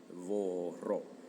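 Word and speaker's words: vorrò: Vorró. Muy importante el hecho de que sea con la vi o bu. Labiodental. Labiodental. Vro, vro, etcétera, porque también tienes bere, que es beber.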